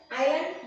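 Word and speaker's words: island: आइलैंड नहीं बोलना है इसका यह जो ऐसे साइलेंट है आइलैंड जो भी आइलैंड है उनके पहले विदाई लगता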